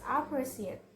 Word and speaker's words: appreciate: Four syllable word with the stress on the second syllable is appreciate, appreciate.